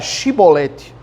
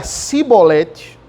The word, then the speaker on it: chibolete: de Gileade lhe diziam Então diga a chibolete se ele dizia simbolete não podendo pronunciar corretamente a palavra eles vão agarravam e